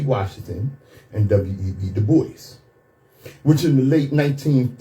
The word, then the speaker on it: Du Bois: She wouldn't call him Du Bois. She called him Dubois.